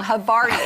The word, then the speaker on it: Havarti: Let's start with the Havarti. So, dill Havarti, one of I our top... I said it wrong. Havarti. I'm so sorry.